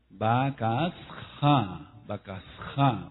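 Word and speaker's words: בקשה: La palabra B grande en la fonética del hebreo, B grande, A, K, S, H, A, con acento en la última A. Que realmente entonces se pronunciaría Bakasha, porque la H suena como J.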